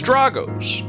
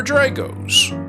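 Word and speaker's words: Drago's: Just outside the quarter between the riverwalk and the casino at the Hilton Hotel is Drago or Draos at the home of the legendary charroyd oysters. They welcome both pronunciations.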